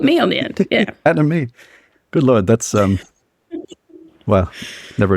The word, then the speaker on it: Anomie: So the album is called Anomie. Is that the right way to say it? That is well done.